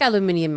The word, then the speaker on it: aluminium: I like aluminium OS. I think it is aluminium. It is aluminium, actually. Because it is spelled with IUM.